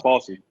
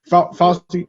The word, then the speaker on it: Fauci: one thing that Frenchie, I'm saying his name wrong, Falsey. Fauci said, he said, the heat